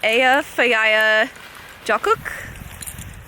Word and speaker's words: Eyjafjallajökull: It's like, you actually say it, Eyjafjallajökull. Sure. It's not how it's spelled, but so we were